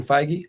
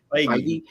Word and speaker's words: Feige: that whoever's running the show, how do you pronounce his name, Darren? Feige? Kevin Feige. Feige.